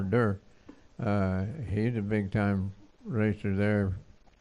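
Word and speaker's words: Derr: He's raced there, and Ernie Durr, he's pronounced D-E-R-R, Durr.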